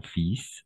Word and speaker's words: fils: De la même façon ici, j'ai un fils. Attention, on va prononcer ici fils, pas fil, fils. On ne va pas prononcer le L à la fin, oui. Tout simplement fils.